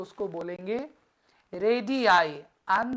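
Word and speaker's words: radii: सारे रेडियस हो गए ना तो उसको बोलेंगे रेडि आई एंड the spelling is आर ए जी आई I double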